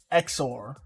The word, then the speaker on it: XOR: acceptor all right so what is this exor and that's exactly how it's spelled x o r and xor stands for